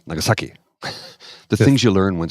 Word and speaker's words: Nagasaki: It's not Nagasaki, it's Nagasaki.